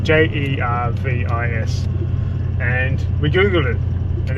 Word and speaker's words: Jervis Bay: o old school OG it is pronounced Jervis so anyone from Jervis